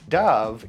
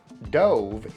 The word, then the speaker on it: dove: Dove is a bird and a popular brand of soap and beauty products. Dove. Dove is the past tense of the verb to dive. For example, last weekend I dove into the pool many times. Dove.